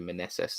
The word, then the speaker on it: Meneses: late and then the NL rookie extraordinaire Joey Meneses that was that how it's pronounced yeah 34.